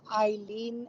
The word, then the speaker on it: Eileen: l we n and I always say just think of Einstein or ice Bine the E